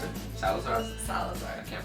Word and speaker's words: Salazar: That's how you pronounce it. Salazar.